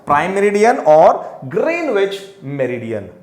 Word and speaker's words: Greenwich: called prime meridian or greenwich meridian greenwich green itch it is how it is pronounced greenish meridian then how many longitudes